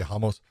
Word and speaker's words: Ramos: very impressed by and it's not ramos it's that's the way they're pronouncing it so i'll say hamos i'm really impressed with